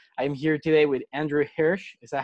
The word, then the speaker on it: Hirsh: I'm here today with Andrew Hirsh. Is that how you pronounce it?